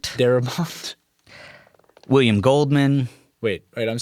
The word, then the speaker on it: Darabont: Uh, Larry Cohen, Frank Deraport, Darabont, William Goldman. Wait, wait. I'm sorry. Did you just mispronounce Frank Darabont's name?